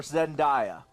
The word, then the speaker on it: Zendaya: be sophia turner or zendaya oh sophie turner zendaya zendaya zendaya is it the dialogue all right uh according to seventeen magazine zendaya how it's actually pronounced